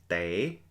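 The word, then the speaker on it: tev: The next word over to the right there, te, T-E-V, means to peel.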